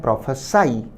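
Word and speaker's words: prophesy: form मिली है और इसका उच्चारण है प्रोफ साई जिसका अर्थ है भविष्यवाणी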